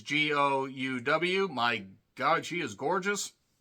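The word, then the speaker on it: De Gouw: There's Jessica DeGoe. I think that's how you say it. It's Gouw.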